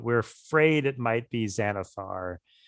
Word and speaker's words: Xanathar: possible it might be xanafar who's xanathar other than like the person who it's a beholder because it's pronounced like a z but it's an x yeah okay right yeah